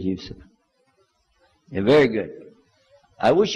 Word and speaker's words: Yusuf: My name is Yousef. Do you say Yousef? You said Yousef. Yeah. Very good. I wish you teach my wife. She keeps mispronouncing it. She calls me useless.